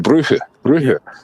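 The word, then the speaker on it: Brugge: yeah but he says he calls it Bruh Bruh and uh they they were very unlucky way pronounced though that is the way pronounced in his language so in in flamish yeah but they were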